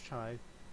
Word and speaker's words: Chi: This is pronounced Chi.